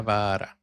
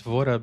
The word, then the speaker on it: Vaara: the far Okay, Vara. That's nice. It rhymes. Her name rhymes. Vara. I thought it was Vora because normally when you have two A's, it has an O sound, right?